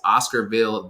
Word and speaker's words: Oscarville: It's Oscarville, the television series, right?